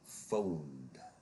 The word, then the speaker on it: phoned: And phoned because the dominant sound here is the n.